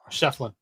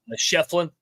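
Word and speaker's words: Schieffelin: other guys Ian uh how do I pronounce this again sheflin sheflin okay the eyes silent huh um yeah he's good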